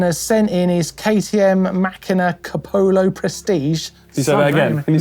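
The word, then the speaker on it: Macina Kapoho: It is the Machina Capolo Prestige.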